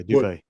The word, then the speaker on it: Dubay: hey, much kudos to Eric Dubay or Dubai. I'm not for sure how to pronounce his name. Yeah, Dubay. Is it Dubay? Yeah, much kudos.